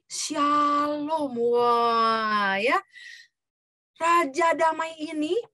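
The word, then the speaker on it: שלום: Nah, itu bahasa Ibraninya tuh ya, shalom, dibacanya dari kanan ke kiri. Yang huruf kayak W itu S, huruf S itu ya dalam bahasa Ibrani. Yang kayak T itu A ya. Jadi shalom.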